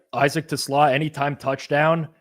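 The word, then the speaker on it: TeSlaa: All right, Isaac Tlaw anytime touchdown. You're pronouncing it like how I pronounce my car which is a Tesla. But Isaac Tlaw anytime or sllo like it's kind of like a cole slaw, you know?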